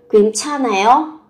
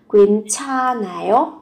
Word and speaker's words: 괜찮아요: 괜찮아요?